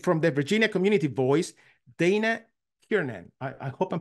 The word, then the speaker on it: Dana Kiernan: My name is Dana Kiernan. The pronunciation was perfect.